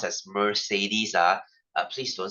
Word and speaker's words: Mercedes: and uh he found the brand you know Mercedes Benz uh guys by the way it's not pronounced as Mercedes uh uh please don't say that it's it's